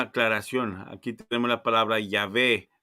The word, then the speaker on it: Yahvé: Aquí tenemos la palabra Yahvé. No dice Jehová, como muchos lo quieren traducir. Esas marcas que después la gente traduce como para poder justificar, pronunciarlo como Jehová, vinieron mucho después.